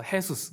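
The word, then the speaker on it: Jesús: 있는 사람이 많아요 그러니까 우리처럼 지저스가 아니라 거기는 제이 발음이 해바람이 나서 해수스 그래요 그래서 했었어 아빠 예수님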